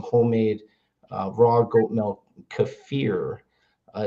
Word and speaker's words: kefir: Kafir uh is the proper pronunciation from Eastern Europe. And we call it kefir in America, but kafir.